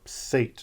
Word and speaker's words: Set: Sutech is perhaps a good go at it, maybe how it would have sounded in Middle Egyptian, though it's preserved as late as in Coptic as Set or Sate, depending on how you pronounce that Ada.